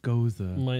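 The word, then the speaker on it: Gose: Key lime goose. Some spectacles? Oh. No, it's actually pronounced Goza. It's like Goza the Traveler.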